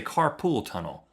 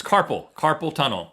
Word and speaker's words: carpal tunnel: A lot of people say carpool tunnel. Like a lot of people say gas by going together to type. Carpool tunnel. It's carpal tunnel.